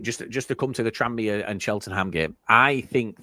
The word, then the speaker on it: Tranmere: It's just Tranmere. It's just like there's no, what? Tranmere. Yeah. Boom. Perfect. There's no gap.